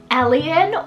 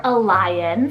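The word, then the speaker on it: Elyon: Elion or Elion, spelled E-L-Y-O-N, also another name that you can pronounce either way.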